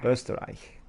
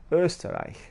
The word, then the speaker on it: Österreich: Österreich. Is that right? Österreich. Österreich.